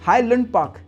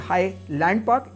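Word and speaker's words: Highland Park: आप याद रखोगे क्योंकि इट्स नॉट हाई लैंड पार्क इट्स you know what it इज हाई लंडन पार्क इट्स not pronounce लैंड it's pronounce you know it हाय लंडन पार्क सातवां जो काफी गलती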